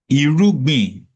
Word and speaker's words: irúgbìn: Irubin. Erubi, pronounced low high tone, is a It's fascinating concept. Irugbin. Thank you for the clarification. Irubin, pronounced Irubin, high, mid, low tone, specifically refers to seeds or planting material.